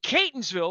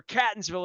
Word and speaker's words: Catonsville: from El Guapo in Catonsville, or Catonsville if you mispronounce it, over in the 21228, where life is great.